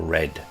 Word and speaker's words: read: Read and red are spelt the same, but it depends on the context whether it's pronounced read or read.